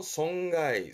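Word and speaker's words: 損害: 송가이, 송가이. 이자죠. 이해입니다. 그래서 발음이 리가이.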